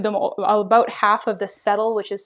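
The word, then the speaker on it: cetyl: You're not seeing, when I reviewed them, about half of the settle, which is spelled C-E-T-Y-L, was spelled S-E-T-T-L-E.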